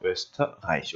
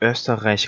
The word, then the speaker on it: Österreich: Österreich 이렇게 쓴다 말씀드렸죠. Österreich. 특히나 요 R 발음이 조금 쉽지 않을 텐데 어떻게 하냐면 R라고 우리말로 되어 있지만 R, 그래서 R, 그래서 목이 갈린 소리죠.